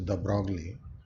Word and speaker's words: de Broglie: by de Broglie, which you people know commonly pronounce as de Broglie.